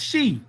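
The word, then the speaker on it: Xi: omega the she empire x i pronounced she the she people ruled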